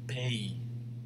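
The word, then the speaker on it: pays: countries to the left a country in french is pronounced pay pay say it after me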